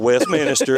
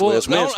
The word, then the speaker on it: Westminster: It's not Westminster, it's Westminster.